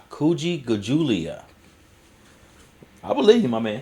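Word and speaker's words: Kujichagulia: Pronounce Ku Ji Cha Gu Li Ya. Kuji Chagulia. Kuji Gajulia.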